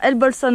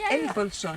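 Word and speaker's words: El Bolsón: Quand ils disent El Bolson, non, avec cette prononciation, ça fait comme El Abrahim Abdullah. Pourquoi ça se dit comment? Comment vous dites? El Bolson, El. avec l'accent sur le Bolson en réalité.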